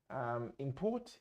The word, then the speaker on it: import: Ударение на первый – существительный, ударение на второй – глагол. То же самое с export и export. Import, import.